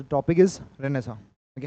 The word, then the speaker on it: Renaissance: तो जो topic is रेनेसा। Okay, pronunciation क्या होता है इसका? इसका प्रोनाउंसिएशन होता है रेनेसॉ। Okay, it's a French word, French language का वर्ड है और इसका मतलब होता है रेनेसॉ।